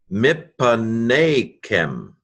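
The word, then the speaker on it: מִפָּנֵיכֶם: Okay, mem, hirik, a doubled pay, I would say. Yes, because you wouldn't have this dagish in the second letter of a syllable. It would be at the beginning of a syllable. And so I'm guessing with this short vowel that this is a doubled pay with a vocal shva after it. So mip, pa, ne, kem.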